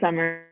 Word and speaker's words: Samar: how is their name it's actually pronounced summer and summer okay so